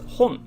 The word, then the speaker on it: 本: there you go and it's pronounced as hon mainly or sometimes moto depending on the word but usually you'll when you see it it's usually hon so let's write that